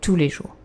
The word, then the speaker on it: tous les jours: But you don't pronounce the S here. Ok? Tous les jours.